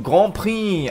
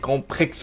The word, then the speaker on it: Grand Prix: letztes Mal geschrieben ja das nenn spricht man nicht Grand Prix aus ja ich das bei mir wechselt sich das so Grand Prix so klar spricht man das so aus das weiß ich aber manchal wenn man